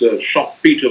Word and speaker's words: Schumpeter: Schumpeter says, it's Schumpeter, but I think it's pronounced Schumpeter.